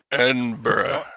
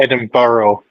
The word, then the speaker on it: Edinburgh: Yes, it's Edinburgh. I can't pronounce. No. Edinburgh. Edinburgh. Brah. Edinburgh. Yeah. Not Edin Burrow. Um. Yeah. Yeah. Yeah. If If you go to Edinburgh and say Edinboro, someone will shout at you in the street.